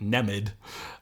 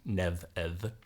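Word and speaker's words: Nemed: m d so uh those who who haven't uh taken up old Irish would probably pronounce it nemid um but uh uh the the m and d are in fact going to be lenited uh to neev in any case where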